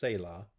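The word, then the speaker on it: סלע: is that the word for rock is is pronounced Sayla if I haven't mentioned that already say law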